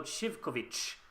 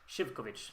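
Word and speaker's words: Živković: So the Z with an accent is a sh. So Shivkovic. No, Shivkovic. Shivkovic. That should be it.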